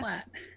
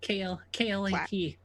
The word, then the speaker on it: Klat: Clat. Yeah, KLAT. I think Hello, that's how you say it in common.